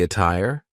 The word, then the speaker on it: attire: a fast D but a tire is an example of a Double T that sounds like a true T what's the attire another word that I